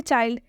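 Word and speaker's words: child: है next example देखिए चाइल्ड चाइल्ड में भी आई के बाद से एल और डी आया है इसलिए यहां पर चाइल्ड का उच्चारण आई से हुआ है आई से कहां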